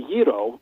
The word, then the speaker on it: gyro: see the G and modern Greek doesn't have a hard G so it should be hero but you know people see the hard G and they pronounce a gyro or gyro election they